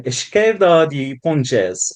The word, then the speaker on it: esquerda de pontes: transition, you spoke about the need for an esquerda de pontes, if my pronunciation is correct, Yeah, a yeah, yeah.